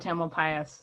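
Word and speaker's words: Tamalpais: how it's time alpine the most common pronunciation in miranda is mount tamil pius so someone was just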